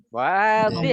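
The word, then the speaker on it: واضح: Wadih, enggak pakai panjang dotnya.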